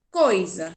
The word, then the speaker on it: coisa: entre duas vó gás por exemplo a palavra coisa coisa se escreve com z a coisa não com s com s mais porque a tia tss aí tem um som de z coisa porque ele está entre duas vó delas quando é oi oi